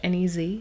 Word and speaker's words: Nez: And if you look at Nez, which is the French Nez, Nez, which means nose, so it's kind of a butchered French term that happens.